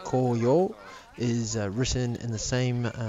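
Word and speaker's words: 紅葉: As you can see in most of these shots, it's a very, very popular tree, and in fact the words autumn colours, pronounced koyo, is written in the same kanji or Chinese characters as the word is maple tree, which is pronounced momiji.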